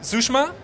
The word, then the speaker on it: Sushma: Habe ich Sushma? Ja. Hi. Right pronounced?